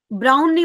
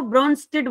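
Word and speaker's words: Brønsted: ठीक है, ब्राउन नहीं बोलते इसको, ब्रॉन्स्टेड बोलते हैं वैसे, ये एंड साइलेंट रहता है इसमें।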